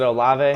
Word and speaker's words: Olave: Is it Olave?